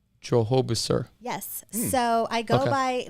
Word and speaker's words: Drohobyczer: you pronounce your name my last name is pronounced Jehovah sir Jehovah sir yes so I go by locally at